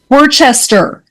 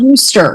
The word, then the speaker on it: Worcester: Worcester. It's not Worcester. There's no H.